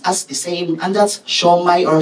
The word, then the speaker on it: Siomai: its various um what's this variations but it's pronounced as the same and that's show my or show May I don't not if you'll agree right okay